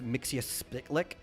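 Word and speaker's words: Mxyzptlk: The way I've always preferred was Mixius Spitlick, which is kind of close to how Gilbert Gottfried said it in the Superman cartoon. Yeah. It was Mix Yes Spittlelick.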